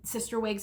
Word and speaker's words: Cysterwigs: And Sister Wigs has an out, and that's spelled CYSTERWIGS.